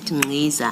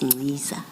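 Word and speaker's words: Nciza: And then in the spirit of the chair of corrections, you said Ngiza. I now know it's Ngiza.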